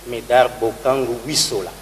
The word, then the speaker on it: Médard Bokangu Wissola: Pasteur Médard Bokangu, j'ai bien prononcé? Médard Bokangu Wissola.